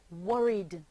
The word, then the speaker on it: worried: The word is worried. What's the sound? D.